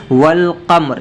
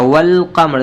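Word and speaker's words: والقمر: हो जाएगा वल कम्र देखिए वाव के बाद क्या है अलिफ भी है लाम भी है यहां पे सिफ जो है हम क्या पढ़ रहे हैं लाम को पढ़ रहे हैं अलिफ को नहीं पढ़ रहे जैसे कि वल कम्र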